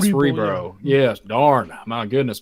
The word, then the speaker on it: Cerebro: That's how you say it, Cerebro.